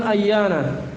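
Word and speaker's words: أَيَّانَ: Baik, kemudian yang ke-8 ayyana. Ayyana cara bacanya di fathah hamzanya dan di tasdid ya-nya ayyana.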